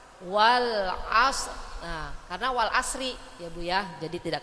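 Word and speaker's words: وَالْعَصْرِ: seperti itu bu ya huruf yang akhir itu kita matikan tapi ada seakan-akan huruf rnya tidak kita keluarkan kan Wal Asri kan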